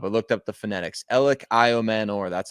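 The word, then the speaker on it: Elic Ayomanor: By the way, uh Elliot Manor, that's how you pronounce it. I've I've looked it up. I looked up the phonetics. Ellioman, that's how you say it.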